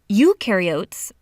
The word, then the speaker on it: eukaryote: mitochondria and Golgi apparatus eukaryotes the U rhymes with do they do have membrane-bound